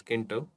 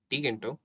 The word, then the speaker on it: Tkinter: And by the way guys, some people call it as Kinter. I call it as Tkinter, and many call it as Tkinter. So you guys can pronounce it at any way.